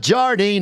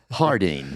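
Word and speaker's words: Jardín: here in Las Vegas not Jardine not lardin Hardin for all your marijuana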